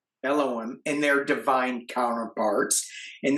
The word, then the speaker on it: Elohim: there are the seven mighty I'm going to mispronounce this. Uh, Eloom, Elom, Elohim, Eloim, Elohim, and their divine counterparts.